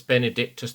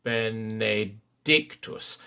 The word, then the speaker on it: benedictus: just after figure g always shape the words benedictus towards the s third syllable bernadictus you will find the